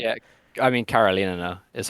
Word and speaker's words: Karolinerna: Yeah, I mean, Karolinerna is how you say Yeah, it.